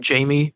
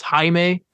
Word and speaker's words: Jaime: I kept calling his name Jamie Reyes. It's Jaime. It's pronounced. I kept saying it wrong.